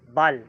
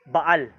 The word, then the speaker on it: Baal: doon pandaraya pa rin Bal pero ang complete na pronunciation doon ay baal medyo mahaba ngayon ah ilang ah ilang